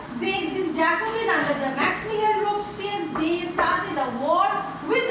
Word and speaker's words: Robespierre: The spelling is like this, Robespierre, but you pronounce it as Robespierre.